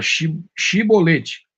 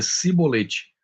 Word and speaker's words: chibolete: não então lhe diziam diz agora chibolete e ele dizia sibolete pois ele não conseguia pronunciar corretamente e então eles o